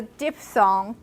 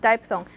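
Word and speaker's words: diphthong: if I pronounce a DP thong it's pronounced as DP thong not D thong DP thong if I do a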